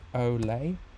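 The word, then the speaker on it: olé: Spanish shout aloud so oay um this is perhaps a little tricky if you um not familiar with the expression so I think in Spanish it's Olay o l e with an acute accents and then in French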